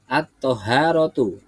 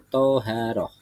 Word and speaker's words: Thaharah: oke Ya benar sekali membacanya adalah at thaharatu atau Thaharah yang artinya adalah bersuci